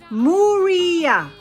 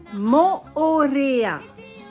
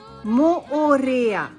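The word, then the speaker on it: Moorea: I hear a lot of mistakes in pronunciation, so today I'm gonna share with you how to pronounce 7 place names in French Polynesia. Whatever. Moh-oh-reh-yah. Nope. Moh-oh-reh-yah. Moh-oh-reh-yah.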